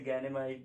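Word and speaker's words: Ganymede: वो कौन कौन से हैं, पहला है लो, दूसरा है यूरोपा और तीसरा है आपका गैनीमेड। आप इसको कुछ और भी प्रोनाउंसिएट कर सकते हैं जैसे गैनेमाइट या फिर जो भी।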